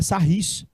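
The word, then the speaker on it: Sarrus: não mas escreve sarros escreve sarros mesmo mas parece que a pronúncia é sarris sarrrice eu acho que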